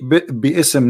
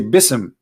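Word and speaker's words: بسم: say you see here you didn't say be ISM no more here they say BISM so it's not an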